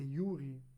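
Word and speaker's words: de jure: E isso é o que o Balman chama de eh liberdade de juri ou de Yuri, seria a pronúncia correta.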